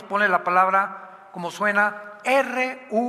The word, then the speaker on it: Ruach: la palabra como suena, R-U-A-C-H, Ruach, que es la palabra hebrea que significa espíritu, y se pronuncia la CH en el hebreo como J, Ruach, como J, Ruach.